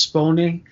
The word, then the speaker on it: Spone: you're not she's italian i guess the name is supposed to be pronounced spawning spawning is being accused